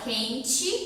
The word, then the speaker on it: quente: Isso acontece porque algumas palavras que terminam com a letra E são pronunciadas como se tivessem a letra I. Por exemplo, quente. A gente fala quente como se fosse um I no final, mas termina com E.